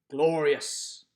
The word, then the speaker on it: glorious: stress the have and glorious glorious glorious stresses the first syllable we don't say will